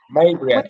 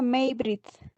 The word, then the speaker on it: Maybrit: Maybriat. Buenas noches, licenciado. ¿Está bien su nombre? ¿Cómo se dice su nombre? A ver. Se pronuncia Maybrit.